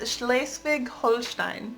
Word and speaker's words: Schleswig-Holstein: We've been Number 15 is Schleswig-Holstein.